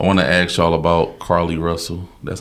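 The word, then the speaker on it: Carlee Russell: I want to ask y'all about Carly Russell. That's how you pronounce her name?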